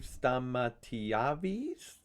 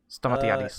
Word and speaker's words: Stamatiadis: Also, it's Steve Stamatiadis. Steve Stamatiavis? Stamatiadis. I think I pronounced that right.